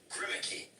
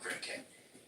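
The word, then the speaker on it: Grimké: When you started reading, you said Grimmicky. You were talking about Grimmicky. First of all, you're not pronouncing it correctly. They were Grimke.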